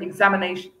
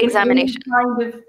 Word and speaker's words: examination: I would say the stress examination. I think examination. situation, I don't think either of those would be said to be wrong. Both of them would be correct pronunciations of that word. Okay. Mm-hmm. Don't worry too much. I think they both would be accepted as correct.